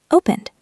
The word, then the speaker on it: opened: Opened. That's a D sound.